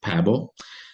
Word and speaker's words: Pääbo: En su Suecia natal, la pronunciación es Svante Pääbo. Pero como es algo complicado para lenguas hispanoparlantes, creo que lo más cercano que podemos hacer sin apartarnos de la realidad es Pavo.